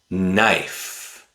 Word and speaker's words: knife: The letter K is silent when it's followed by the letter N. Knife, night, knock.